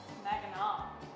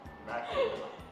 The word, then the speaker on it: Mackinac: Mackinac. That's how it's pronounced. Give here. up. Mackinac.